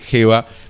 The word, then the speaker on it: Jeva: Antes le habíamos dicho Eva, se dice Jeva.